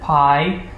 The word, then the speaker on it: pi: the letters sigma and pi to denote sum and product is because sigma is the Greek equivalent of the letter S. I'm probably not pronouncing it properly, and pi, correctly pronounced P in Greek, is the Greek analog